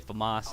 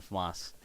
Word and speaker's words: FAMAS: I say FAMAS, I think that's how it's pronounced.